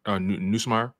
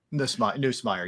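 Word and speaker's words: Nussmeier: Am I pronouncing that right? Neusmeyer. Neusmeyer.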